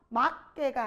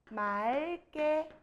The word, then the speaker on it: 맑게: 막게가 아니라 맑게. 막고가 아니라 맑고 이렇게 되는 거예요.